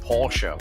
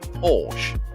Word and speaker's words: Porsche: like me talking about Porsche when people call it Porsche I go well hang on the E's got a little bit of an emphasis on it it's like with for